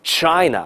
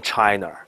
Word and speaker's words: China: 员，第一个词就是 China，你别读成 China。